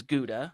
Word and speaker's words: Gouda: word right yeah so the really that American English pronunciation is Gouda mm-hmm but if you go overseas to the Netherlands if you're at market and Amsterdam and you ask for Gouda they'll they'll correct you probably sure and they'll say